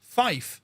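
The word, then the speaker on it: five: 5 is actually pronounced Fife when it comes to radio telephony.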